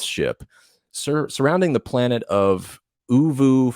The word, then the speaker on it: Oovo: and a defense ship surrounding the planet of Uvu 4. I think that's how you say it. Ovo.